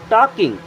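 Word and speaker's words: talking: वे आ मीस है टॉकिंग देखि यहां पर एल होता है साइलेंट इसे क्या पढ़ते हैं टॉकिंग they are टॉकिंग वे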